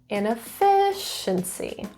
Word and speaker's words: inefficiency: The stress is in the third syllable, inefficiency.